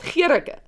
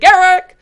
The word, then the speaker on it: Gericke: Now remember, I think my name is pronounced Gericke. So I'm like not even listening. I don't even think they said. They just said Gericke, Gericke.